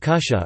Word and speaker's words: kutja: Words like kutja, pronounced as kusha or kama, kamastog are used instead of apparently.